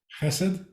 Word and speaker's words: חסד: Chesed?